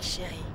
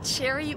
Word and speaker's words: Chérie: Personne ne prononce de la bonne manière. On dit Cherry ou Chérie, mais vous le dites de la bonne manière, à la française.